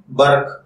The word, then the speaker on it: برق: ہوتے ہیں وہ ہیں بے زبر بر اور کاف ساکن برق، جبکہ انگلش میں اس